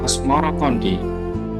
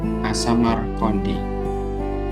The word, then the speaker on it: Asmoroqondi: Babar Tanah Jawa versi Faisma menyebutkan Asmorokondi itu mengikuti pengucapan lidah orang Jawa terhadap Asamarkondi hingga akhirnya berubah menjadi Asmorokondi.